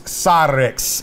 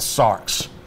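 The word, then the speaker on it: σάρξ: record and say that I didn't pronounce this word correctly all right it's cyrix is really what it is and I called it sarks but it's flesh and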